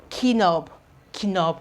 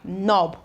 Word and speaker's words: knob: have knock new knob instead of KOB KOB we have knob we have knowledge knuckle